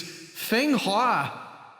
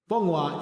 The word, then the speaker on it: Fenghua: What I've read in the cast list, it reads Fenghua. Fenghua is the Chinese pronunciation, Barty. Interesting. Sounds like Funhua to me.